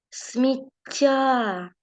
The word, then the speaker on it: сміття: залишився звук с і звук м звук с в нас буде твердий а ось звук м в нас буде м'якенький тому що після нього йде звук і так давайте з вами подивимося так і наголос звичайно наголос сміття так на я де в нас є